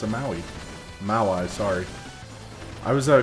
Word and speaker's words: Maui: Uh doing a quick detour from the video because again in my comments, I've had someone correct me about the pronunciation of the word maui.